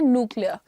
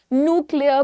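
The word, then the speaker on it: nuclear: speakers होते हैं अंग्रेजी के वो कहते हैं न्यूक्लियर right and that sounds a little better to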